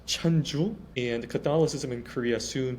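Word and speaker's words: 천주: In Korean, it is pronounced Cheonju, and Catholicism in Korea soon became known as Cheonju-gyo, or religion of the heavenly master.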